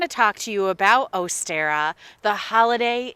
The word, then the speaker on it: Ostara: pagan roots traditionally and if you listen to me sort of say the name ostera if you look at the word astera o-s-t-a-r-a you're going to hear and see a likeness to the word easter which if you're in